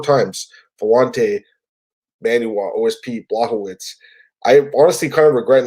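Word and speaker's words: Błachowicz: I got to pronounce this properly. Blachowicz.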